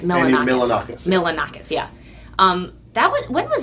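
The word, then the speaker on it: Milonakis: Milanakis, yeah.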